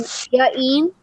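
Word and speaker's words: J'Gene: apostrophes everywhere and like try to make the pronunciation sound good. Like, I've met somebody before with the name Jaeen, and it was J apostrophe G E N E.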